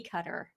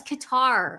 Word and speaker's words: Qatar: you were saying Nancy it's qar guys I I actually looked it up it could be cutter if you go under pronunciation no it is Qatar okay why don't we